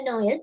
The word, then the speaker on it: Noël: So the word pronunciation is le Noël. අපි pronounce කරන්නේ le Noël කියලා.